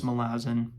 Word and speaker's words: Malazan: saying Mao Zan guys I know it's malazin I know it looks like malzan too and Mao Zen's quite frankly more fun to say but alas I'm not the Arbiter of pronunciations uh but expect me